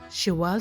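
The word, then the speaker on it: Şeval: شيفال سام أو كما ينطقها الأتراك شيوال سام، 48 سنة، مواليد 1973 بمدينة اسطنبول.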